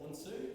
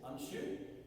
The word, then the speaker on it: Unsu: So in some styles they pronounce it unsu, and in some styles they pronounce it unshu, and that's the difference between obviously the Japanese and the Ryukyu.